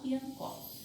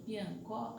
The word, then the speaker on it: piancó: Por exemplo, do piancó, a sílaba que a gente pronuncia com maior intensidade é o có, e no manco é o man.